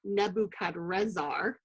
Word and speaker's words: Nebuchadrezzar: But the name of this king in the original Akkadian language, which is one of the languages of the Babylonians, his name would actually have been pronounced Nebuchadrezzar, and I didn't write